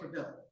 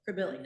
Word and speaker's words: Crebilly: So to pronounce it correctly, living here, we say We say Crebilly. Crebilly.